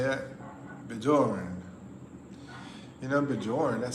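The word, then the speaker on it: Björn: It's pronounced like Bjorn.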